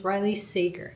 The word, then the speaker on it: Riley Sager: I am not good with pronouncing names correctly and I looked it up and it's Riley Sager.